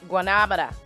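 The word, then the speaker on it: guanábana: Guanabana. Okay, whatever. That's how they say it in Cuba. Guanabana.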